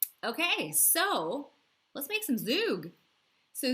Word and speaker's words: zhoug: so let's make some zug so zug it's spelled z h o u g and it is a